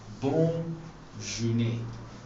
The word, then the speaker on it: bonne journée: And it's pronounced as bonne journée.